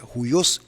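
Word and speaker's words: υἱός: el griego se usa la palabra judíos así se pronuncia judíos hijo bueno se refiere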